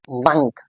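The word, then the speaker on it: monk: pronouns and एंड इज़ the actual और the real pronunciation of this word is not more it's मंक मंक this is also one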